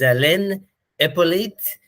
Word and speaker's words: Alain Hyppolite: And my special guest today is Alain Hyppolite. I hope I pronounced that right.